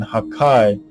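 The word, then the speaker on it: 破壊: The kana for the attacks gives the pronunciation Hakai, which when read aloud sounds like destruction.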